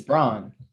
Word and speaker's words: Braun: It's crazy that his last name is Brown because every time I see it It's spelled just like it's Braun. Braun. Yeah, Yeah, it's it's Braun.